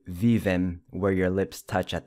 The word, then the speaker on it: vivem: I know it's tempting to say vivem where your lips touch at the end, but it's vivem. Lips never touch at the end.